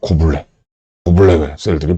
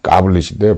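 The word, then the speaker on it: goblet: 세포를 보고, 이렇게, 가블리셀인데, 저 가르쳐 주시는 선생님들이 이걸 고블레셀이라고 불렀어요. 고블레 셀들이 보인다. 고블레셀. 고블레가 어느 나라 말이고, 고블레가 무슨 뜻인지, 고블레셀. 그래서 알고 보니까 고블레도 아니야. 까블릿인데, 발음이. 근데 이걸 갖다 이제 또 배상세포라고 불렀어요.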